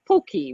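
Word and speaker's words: potjie: And Darlene, correct my pronunciation, the poki, right? Yes, exactly. It's not anything like it's spelled, but it's basically a shrimp stew, and it's a South African recipe.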